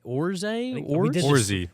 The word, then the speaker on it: Orze: you go Eric orzette orze I've done this so many times I think his pronunciation's on it it's orzy okay Eric worzee he is